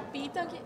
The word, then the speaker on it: Pitang: Que é o CEO da Pitang. Eu sempre fico em dúvida, como é que pronuncia? Pitang.